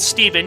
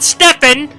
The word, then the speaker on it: Stefan: stefan michael busser and if you want me to pronounce it steven you should have spelt it with a v i will pronounce it stefan it's spelt that way also told police that